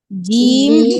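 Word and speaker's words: جيم: বলেন জিম জিম আপনি হচ্ছে জিহবার আগা দিয়ে উচ্চারণ করতেছেন জিহবার আগা ব্যবহার করবেন জিবার মাঝখান জিহবার মাঝখান ঠিক আছে এবার এখন ঠিক হলো কিভাবে প্রত্যেকবার এভাবেই বলবেন জিম বলবেন না জি জি জিম হাজের জি আচ্ছা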